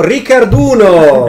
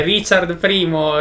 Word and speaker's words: Richard I: denis questa volta abbiamo avevo rijkaard uno no e richard primo il re d'inghilterra su